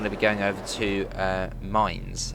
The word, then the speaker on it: Mainz: be going over to Mainz. I believe that's how you pronounce it from the comments I've had, Mainz, like Mainz.